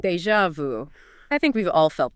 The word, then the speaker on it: déjà vu: But pronounce it déjà vu. Déjà vu.